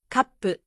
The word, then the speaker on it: カップ: Kappu has a pause before pu.